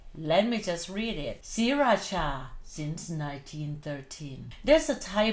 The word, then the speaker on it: Sriracha: Spelling that way but it's still pronounced Sriracha. One is pronounced the ending syllable with c h a. The other one is j a, but you still read it Cha.